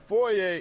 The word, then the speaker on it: foyer: all right listen up foyer is pronounced like Foy vers ain't ver sales it's